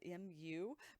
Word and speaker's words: mu: is the greek letter mu spelled m u pronounced m-e-w like new and mu so this is